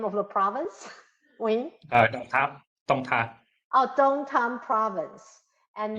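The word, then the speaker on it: Đồng Tháp: How do you pronounce the name of the province? Wing? Dong Thap.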